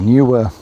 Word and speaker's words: NEEWER: Newer approached me, Chinese company, and that's how they pronounce their name.